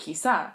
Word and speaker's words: quizá: And I learned that day because quizá has an accent on the A, which makes it quizá.